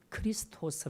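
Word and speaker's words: Χριστός: 아라고 그렇게 아 읽습니다 그리고 이걸 헬라 으로 번역을 하게 되면 크리스 토스 라고 말합니다 그리스도 쓰 그래서 여기서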